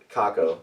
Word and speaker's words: cacao: Cacao.